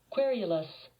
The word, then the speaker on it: querulous: up the word curus but you don't say it like that how you say it querulous querulous querulous querulous it